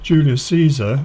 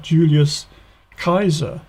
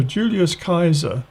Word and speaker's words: Julius Caesar: we do in english it should be more like a k so julius kaiser he was the great